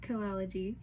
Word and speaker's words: Kelxology: And then the X in the middle is like to tie it together, kelxology, but the X is silent.